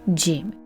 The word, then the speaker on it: ج: This is the separate and this is the sticking form of gym like J in English like jungle.